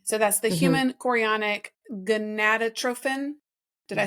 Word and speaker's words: gonadotrophin: So that's the human chorionic gonadotrophin.